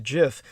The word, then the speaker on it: GIF: aquino by the way the jif is uh one way i pronounce it so i so that people can more easily audioly disambiguate it from the word gift and uh the gif